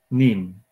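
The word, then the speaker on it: neem: Pero para reforzar eso, entonces utilizamos, se escribe N, dos Es y una M. N-E-E-M. NIM.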